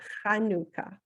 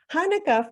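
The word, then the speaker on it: חנוכה: Hanukkah itself means dedication and I'm going to pronounce it for you in Hebrew it's might want to try that Hanukkah Hanukkah first celebrated in 165 BCE is also known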